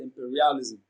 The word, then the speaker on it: imperialism: Now, imperialism is pronounced and broken down into syllables as imperialism. The second syllable, per, receives the stress. It is pronounced louder and longer.